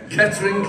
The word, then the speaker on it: Kettering: It's just two syllables. Kettering, yeah.